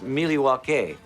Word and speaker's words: Milwaukee: Actually, it's pronounced Miliwaukee, which is Algonquin for the good land.